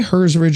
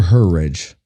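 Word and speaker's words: Herr's Ridge: Uh do you say Hersidge or Herridge? Well, I say hers. You say hers. Although it is her. It is her, Rich. It's spelled her rich, right? It's not hers, Rich. Yeah, but it sounds better to say hers. Possessive possessive. Yeah. H E R R apostrophe.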